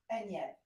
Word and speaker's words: Anyab: Enyeb. Enyeb. Which means fangs in Arabic. Which means fangs, and it's spell it. So it's Anyab.